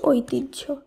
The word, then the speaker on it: ঐতিহ্য: একইভাবে ওই তয়রস্যি হয় জফলা, এর শুদ্ধ উচ্চারণ ঐতিহ্য।